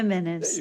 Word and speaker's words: Jimenez: There Jimenez. you go, Doral. Well, because a J is yes. The J is silent.